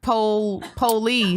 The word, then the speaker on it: Polee: I done comedy shows and they be like, so it's Polee, right? I'm like, just like it's spelled.